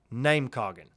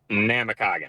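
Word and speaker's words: Namekagon: of The Baron's name is it namakagan or is it Nam kogan namakagan namakagan that was my first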